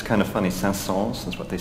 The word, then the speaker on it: Saint-Saëns: In France, we do pronounce the S. It's kind of funny. Saint-Saëns is what they say.